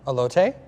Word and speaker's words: elote: How do you pronounce it? Elote?